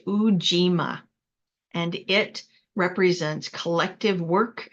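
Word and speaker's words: Ujima: third principle Le of Quanza is pronounced uima and it represents Collective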